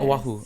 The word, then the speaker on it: Oahu: uh the entire island of oahu oh yeah oahu did i say that right yep you said